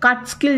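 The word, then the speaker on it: Catskill: double L ठीक है ये एक्चुअल कट स्किल जैसा साउंड कर रहा है बट इसको जब हम लोग प्रोनाउंस करेंगे ना ये कैट स्किल माउंटेन होगा ठीक है तो इन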